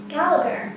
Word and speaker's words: Gallacher: Gallacher. Gallacher. It's like it's a G, but it's not.